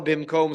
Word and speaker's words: bimkom: side point here that the pronunciation, if you're in the yeshiva world, is not Ein Kiddush ela bimkom seuda, even though that's the correct nikud. It's that everyone will always pronounce it as Ein Kiddush ela b'makom seuda. So bimkom, b'makom, okay.